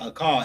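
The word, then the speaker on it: אכל: Eight is a call. That's how you say it, a call. A A H K A L. That's how you say to eat in Hebrew.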